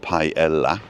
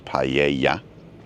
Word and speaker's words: paella: And then, after you've pronounced every letter, make sure you know that double L is a Y. So it's not paella, it's paella.